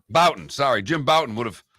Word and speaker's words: Bouton: Ball 4, pronounce his name, the author of Ball 4. Jim Bouton. Bouton, sorry.